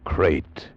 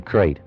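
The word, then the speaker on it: krait: Tonight we escaped to India and the story of a man trapped in his bed by a crate.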